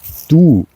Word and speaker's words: du: a sound that might um be hard to pronounce because you don't know it you don't have it in English